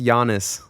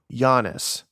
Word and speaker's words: Yiannis: Yeah, it's pronounced Yiannis. Yiannis.